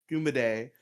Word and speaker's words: Kumade: It's very simple. Kuma like a bear. Day. Kuma day. It's like Kuma, it's a day. It's like a day about bears. Kuma, Just imagine it that way.